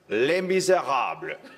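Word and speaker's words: Les Misérables: The Best Exotic Marigold Hotel, Les Miserables. That's correct pronunciation.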